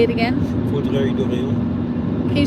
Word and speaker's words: Vaudreuil-Dorion: See now, the Vaudreuil Dorion is, how do you say that?